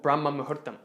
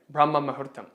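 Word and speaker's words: Brahma muhurta: that in yoga there is this concept called brahma mahuttam if you look it up it's spelled b b-r-a-h-m-a-m-a-h-u-r-t-a-m brahma mahertam what it literally means is that moment during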